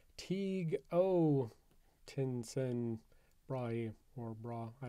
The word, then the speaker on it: Tycho: Of course, us English speakers like to mispronounce this as Tycho, which I recently learned when I had a student named Tycho in one of my classes. But that's neither here nor there. What is here is the fact that apparently his name wasn't even Tycho. It was Teague O.